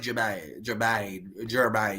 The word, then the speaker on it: Germain: Either way, it's pronounced like Jermaine.